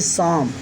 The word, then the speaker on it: psalm: इस प्रकार हम इसको पढ़ेंगे शाम। तो आप देख रहे हैं स्टूडेंट्स, यहाँ पर इस शब्द में दो लेटर साइलेंट हो गए, P और L।